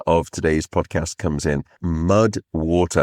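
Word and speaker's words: MUD\WTR: That is where the supporter of today's podcast comes in, MUD WATER, WATER, WATER, and it is spelled m u d w t r.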